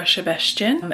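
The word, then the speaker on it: Sebestyén: up that pronunciation um for my fellow englishspeaking folks when there is a singular s in a Hungarian word and it's not followed by as Z then it is pronounced with a shh sound and only when there is a SZ is it a s sound this is a book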